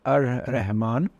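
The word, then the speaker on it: الرحمن: So the first one, Ar-Rahman, you pronounce it as Ar-Rahman, and the English translation would be the most compassionate.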